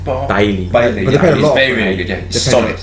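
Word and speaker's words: Bailly: Barley, whatever his name. How do you pronounce his name? Bailey.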